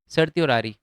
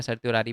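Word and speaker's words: certiorari: सर्त्योरारी, ये एक French word है, तो इसी की वजह से इसको मैं सर्त्योरारी पढ़ रहा हूँ। अलग प्रोनाउंसिएशन भी हो सकता है, या वैसे तो है नहीं, बट ठीक है।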